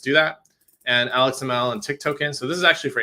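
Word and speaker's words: tiktoken: as tokens I saw I heard someone pronounce this as Tik toen before um I think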